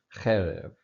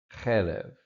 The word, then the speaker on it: cherev: to put the accent, if you see a segolet, it makes it easy because you know that's going to be on the first syllable. So here it's cherev, cherev, and the same form in the word pair.